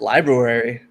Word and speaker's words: Libruary: So I was combining February and library, and it just Libruary. And it just sounds like someone's trying to like correct someone on the pronunciation of library. It's just like, no, it's Libruary. It's like the nuclear version of library.